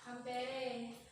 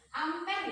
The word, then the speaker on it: ampere: Satuannya adalah Ampere. ampere ya bacanya.